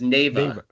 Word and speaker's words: Neva: So it's Neva. Neva. Yeah, so it's basically heaven spelled backwards.